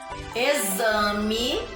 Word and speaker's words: exame: Ó, eu trouxe exército, escrito com X, mas tem um som de Z. Exame, exercício e exato. Aqui eu tenho algumas palavrinhas escritas todas com X, mas com som de Z, Z, tá bom?